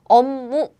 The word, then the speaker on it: 업무: So air blocking sounds become the nasal sound.